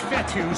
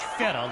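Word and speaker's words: Fetu: be second down so coach fethu spelled f-e-t-u for the longest time i was pronouncing it coach fetta like feta cheese so let's just say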